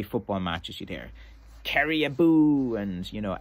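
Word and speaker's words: abú: And at Kerry football matches, you'd hear, Kerry aboo. And, you know, aboo is like a battle chant, which, you know, is spelled A-B-U, fada.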